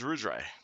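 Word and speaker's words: Ruidre: your name uh uh me my name is rudray rudray and that i'm guessing that's going to be pronounced exact spelled exactly how i think it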